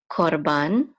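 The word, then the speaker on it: קָרְבַּן: And this is these first four letters will be pronounced the same as this right here, korban.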